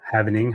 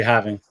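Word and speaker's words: halving: are we pronounce it how does everyone pronounce that anyway is it having or havening I say having having is yeah it's haling oh haling right because the L right there so it's yeah haling okay no one pronounces the L man come on it's a having NOP I've heard having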